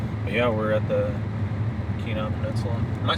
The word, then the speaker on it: Kenai: down in here but yeah we're at the Kenai Peninsula am I saying it right yeah all right keenai Peninsula keenai Peninsula and this is an undisclosed